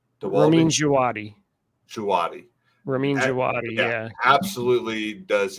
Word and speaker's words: Djawadi: Dwadi? Ramin Djawadi.